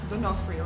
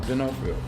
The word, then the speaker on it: D'Onofrio: Is it D'Onofrio or Yeah, D'Onofrio. D'Onofrio.